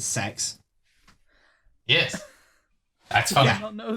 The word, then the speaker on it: CEX: just discovered the the the company cex pronounces their their company name as sex yes actually i don't